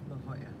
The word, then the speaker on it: La Jolla: It's pronounced La Jolla. La Jolla.